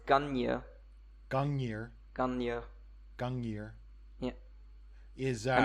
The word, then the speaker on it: Gungnir: well, I don't think you pronounce the second N. I mean, my Old Norse isn't very good, but Yes. So it's Gungnir. It's Gungnir.